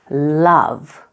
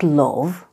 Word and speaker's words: love: You pronounce this word love, not love, love.